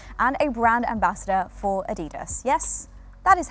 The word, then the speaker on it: Adidas: She is a yoga and Pilates teacher and a brand ambassador for Adidas. Yes, that is how it's pronounced.